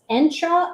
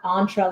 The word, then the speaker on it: Entra: to be called Microsoft Entra. And it's Entra, like if anyone's old enough to remember the Nissan Sentra. It's not Entra like entree.